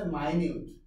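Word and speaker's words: minute: আপনারা এটা করতেছেন না এটার উচ্চারণ কিন্তু মিনিট না এটার উচ্চারণ হচ্ছে মাইনিউট আপনারা যে মিনিট মিনিট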